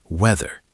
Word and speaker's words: weather: Listen to the word weather. The TH is voiced. It's like a vibrating D. Weather.